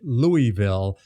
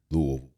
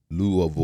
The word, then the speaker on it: Louisville: Louisville. Louisville. That's right. It is. Not Louisville. We basically slur all of the consonants and just focus on the vowels there.